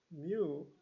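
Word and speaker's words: μ: Or, so this mean of x expected value is denoted by x mu, So this symbol is pronounced mu. Okay? So it is Greek letter, so mu.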